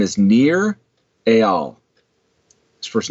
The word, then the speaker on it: Nir Eyal: His name is Nir Eyal. His first name is spelled Nir.